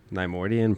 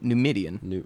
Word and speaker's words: Numidian: Neimoidian Prime? Nope, Numidian. Whatever. It's not Neimoidia.